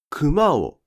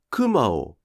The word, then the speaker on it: 熊: て発音したとき、熊をというアクセントが標準で、熊をは標準アクセント